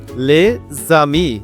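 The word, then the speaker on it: les amis: করে নিই ফরাসি লিয়াজ ফরাসি ভাষায় লিয়াজ হচ্ছে মানে হল এক শব্দের শেষে যে ধন থাকে তার পরের শব্দের শুরুতে স্বরধ্বনি থাকলে উচ্চারণের শব্দ উচ্চারণে যোগ হয়ে যায় যেমন লেজামি মানে বন্ধুরা লেজামি বন্ধুরা লেজামি বন্ধুরা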